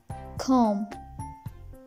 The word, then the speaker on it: comb: So pronunciation rule number one is, if M comes before B, then B will go silent. For example, lamb, thumb, climb, dumb, tom, comb.